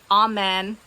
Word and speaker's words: Amen: It's spelled like Amen.